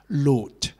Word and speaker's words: loathe: word uh loaf okay load which is spelled l-o-a-t-h-e okay it is pronounced as load which the word load means intense dislike or